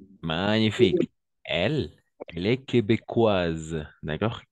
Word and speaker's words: québécoise: 3 magnifique elle est québécoises d'accord québécoise c'est-à-dire une personne qui habite au Québec parce que le S entre deux voyelles on va prononcer comme un Z la SCI est très